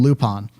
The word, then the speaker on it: Lupin: guns and on the Dubs like we're gonna pronounce his name loop on I think that animega releases they call him